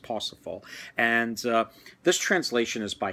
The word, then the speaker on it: Parzival: And he wrote something called Parsifal, or the way it's spelled looks like Parzival, but I believe it's pronounced Parsifal.